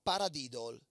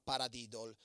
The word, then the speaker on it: paradiddle: Semplicemente sopra l'esercizio pronunciamo il suo nome. Così. Pa-ra-di-dol.